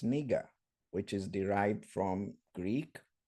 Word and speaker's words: Niger: that was also called the audio there pronounced it as Niger just like we pronounced that country in West Africa today but if you open the concordant and you read and you play the pronunciation it's neiger which is derived from